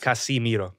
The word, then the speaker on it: Casemiro: Casemiro.